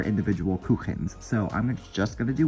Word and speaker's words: Kuchen: got the custard, and I know I said Kuchen in the beginning, it's Kuchen, if you want to be correct with your pronunciation, Kuchen.